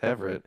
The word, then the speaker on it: Everett: Well, my last name's Everett. She goes Everett. And I said, no, it's Everett. She said, no, you're pronouncing it wrong.